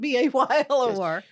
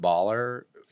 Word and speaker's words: Bahl: Baylor Street Pizza, but it's spelled Bahler, not Baylor. It's named after a street in our little podunk town in Ohio. It's a real street, and it's where my business partner and his wife had their first little home, and that's where it comes from. Oh, that's great. People call it Bahler. We don't correct them anymore because 95% of the people say Bahler, but it's pronounced like the University Baylor.